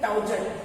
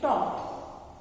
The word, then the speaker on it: taught: से teach, spelling क्या है? टाउजट, TAUGHT, टाउजट। ऐसा जट होता है कुछ, टाउगट भी नहीं होता ना, TAUGHT, टाउगट भी कुछ नहीं होता। इसका प्रोनाउंसिएशन है टॉट, teach, टॉट, catch, cot.